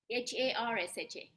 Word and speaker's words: Harsha: name is how do you spell that yes I har okay